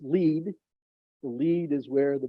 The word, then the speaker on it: Lead: Located underground in the Sanford underground research facility in Lead, South Dakota, pronounced "lead."